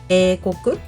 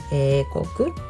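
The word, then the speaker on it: 英国: We also use this kanji, eikoku. I hope you can say it. Yes, eikoku. Eikoku, we pronounce it, and then so you can see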